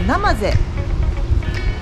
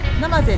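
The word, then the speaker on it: 生瀬: 、そして、これはナマゼ、ナマゼと読みます。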